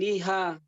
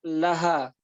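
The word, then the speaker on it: لها: Kalau kemasukan domir, baik domir huwa atau hiya, ini domir hiya ini, laha bacanya. Kalau domir huwa, lahu, bukan lihu. Kok bisa begitu, Ustaz? Ya memang begitu, ya, kaidahnya. Bukannya lihu, liha, lika, laka, bukan lika. Laki, ya, lakum, ya, lakunna, seperti itu.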